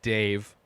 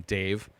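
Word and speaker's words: Dev: is is Dave and it's d-e-v pronounced by everybody in this movie Dave doesn't sound like this old ancient mythical god guy um and then the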